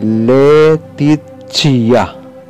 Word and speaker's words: Laetitia: Ang bigkas dito ay constitutio. Laetitia. Ito ay magiging letitia.